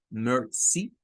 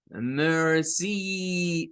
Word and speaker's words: mercy: Luego, entre la C y la I, pues encontraríamos un sonido corto para la I, es el sonido I, mercy, mercy. Recuerden que no es de decir mercy, no, mercy, mercy, porque